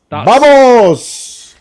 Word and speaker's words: vamos: By the way, it's not actually in in Spanish Spanish and it's actually the V is a B pronounced as a B. So it's more like vamos.